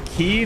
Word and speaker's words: quay: to back very much that's key not qua I've always pronounce it